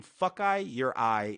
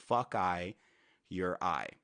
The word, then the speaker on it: Fokaiureye: Oh, also, and then my name, Fuckeye Your Eye, is how you pronounce it. Fuckeye Your Eye.